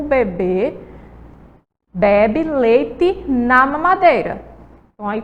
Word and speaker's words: bebê: é bebe certo e do outro lado a gente tem um bebê veja só na última sílaba de e tem um acento vamos chamar beber a última sílaba ia mais forte tá sem zoada certo